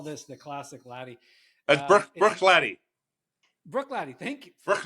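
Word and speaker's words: Bruichladdich: the bottle, he's going to be able to pronounce that spectacularly. But we'll just call this the classic laddie. That's Brook Laddie.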